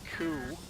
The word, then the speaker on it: coup: It's pronounced coup, by the way.